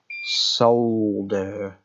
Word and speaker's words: solder: do you notice that in the uk we pronounce it with the proper pronunciation solder does anyone notice that i do solder and we're going